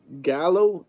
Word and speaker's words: Gallow: says G guy Gallow it's called Gallow a Gallow that's how it's pronounced flesher man Gallow critic